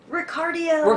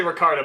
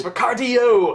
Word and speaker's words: Ricardio: Ricardio. Ricardio! I always say, I'm always about to say Ricardo, but I'm like, no, it's not that, it's Ricardio! Remember, heart, cardio.